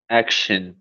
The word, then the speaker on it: action: Action. Isso, action. E se escreve assim. Action. Troca o som pelo shun.